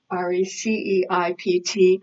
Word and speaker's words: receipt: that yes I do re CEI PT so then this word the P is silent and it's pronounced receipt next return next exchange